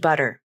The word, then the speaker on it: butter: These words are spelled with a letter T, but they're not usually pronounced with a T sound. Other forms of English may use a true T sound in water, but in American English, it's water with a flap.